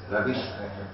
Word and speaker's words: Ravizza: La Madonnina, la Darsena, il Colon, il Parco Ravizza, pronuncia la Z come se fosse una S, Ravizza.